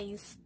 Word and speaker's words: eyes: que ay ay ay se escribe ellas pero su pronunciación es ice ice ice a ver